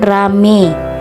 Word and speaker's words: ramai: Kata ramai atau ramai diucapkan rame, petai, petai diucapkan pete.